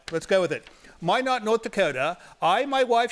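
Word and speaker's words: Minot: all the way from Mino rhymes with why not my not no that's a French word it's Mi n o t Mino right Mino Mino but they say it's it's pronounced my not all right let's go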